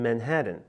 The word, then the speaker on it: Manhattan: In New York City, no one really pronounces the T's in Manhattan.